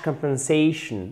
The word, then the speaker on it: compensation: is also called cash compensation. Alors, qu'est-ce que c'est un cash compensation? Compensation, vous savez, hein, quand les mots se terminent par "tion", on met l'accent tonique juste avant.